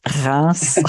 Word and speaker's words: Reims: You're all going to have to pronounce it. That's my usual joke. Reims.